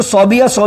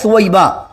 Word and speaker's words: ثویبہ: کا نام تھا ثویبہ، ہمارے اس کو صوبیہ کہتے ہیں، حالانکہ صحیح تلفظ کا ہے ثویبہ۔ تو میرے پاس ایک